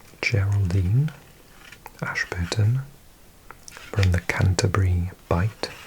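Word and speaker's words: Bight: Bite here. Never seen this word before. Bite with a gh.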